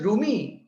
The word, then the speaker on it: Rumi: If your name is Rumi, it is Ru, Mi.